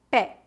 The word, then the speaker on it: pé: pronúncia fechada mês mês bebê bebê éxito éxito pronuncia aberta pé pé médico médico América América se a vogal